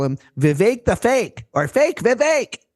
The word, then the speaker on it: Vivek: And then there's this guy, Vivek Ramaswamy. Rhymes with cake.